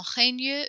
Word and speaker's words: règne: Que ton règne vienne, que ta volonté soit faite sur la terre comme au ciel.